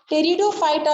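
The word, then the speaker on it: Pteridophyta: अगर हम डिवीजन टेरिडियोफाइटा की बात करेंगे, इनमें इसमें पी साइलेंट होता है। ठीक है, टेरिडोफाइटा जो होते हैं ये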